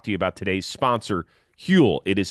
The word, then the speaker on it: Huel: want to talk to you about today's sponsor hule it is spelled huel the global complete nutritional brand trusted